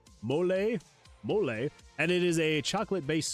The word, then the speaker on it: mole: They have a recipe called mole, pronounced mole, and it is a chocolate-based sauce with a spicy kick.